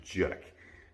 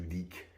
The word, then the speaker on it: Judique: little tiny town called jek and you pronounce it jerk not you deek it's it's like you just it's one syllable um so i grew